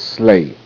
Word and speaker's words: sleigh: Santa Claus, reindeer, and his sleigh. Sleigh. Sleigh. Sleigh. Sleigh. Sleigh. Sleigh. Santa Claus and his reindeer pulling Santa Claus' sleigh. GH is silent.